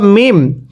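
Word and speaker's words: ميم: আর এই চিহ্নটার নাম হলো মিম। মিম। তাহলে লাম। মিম। মিমটা উচ্চারণের সময় দুইটি ঠোঁট একসাথে মিলিয়ে দিবেন।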